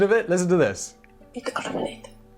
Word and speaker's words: Ittoqqortoormiit: I looked up the pronunciation of it. Listen to this. Ittoqqortoormiit. Ittoqqortoormiit. Can you hear that? That's what it's called. Ittoqqortoormiit, maybe?